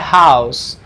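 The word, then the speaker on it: house: किया जाता है तो इसका प्रोनाउंसिएशन से के साउंड के साथ होता है। इसको हम बोलते हैं एस के साउंड के साथ होता है, इसको हम बोलते हैं माई हाउस, माई हाउस।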